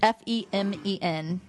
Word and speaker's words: Femen: I'm fucking It sending might a be fucking pronounced letter. Femin. It's Femen.